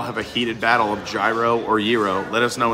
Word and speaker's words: gyro: got to try that so I pronounce it gyro I don't know if it's a New York thing but he said Pete it's Euro um tomato tomato right let's pull the whole